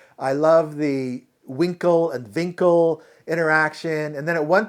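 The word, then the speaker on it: Winkel: another scene with Dr Winkle he calls him Dr winkl but his he says my name's Dr vinkle because vinkle is the German pronunciation in Germany the W is pronounced as a v so Dr Winkle becomes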